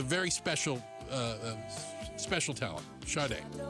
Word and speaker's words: Sade: Shade. All right. Shade made the Hall of Fame. Good for her. It's not Sade. It's not Sade. Well, certainly not Sad or Sadi.